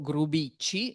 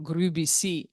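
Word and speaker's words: Grubicy: sostegno del mercante Alberto Grubicci, se lo dobbiamo pronunciare all'ungherese, o Grubici alla francese, ma l'origine era ungherese, e il quale finalmente, dopo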